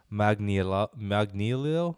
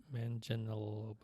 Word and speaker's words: Manganiello: You know your boy from Magic Mike, Joe Magnilio? How do you say it? Manganiello.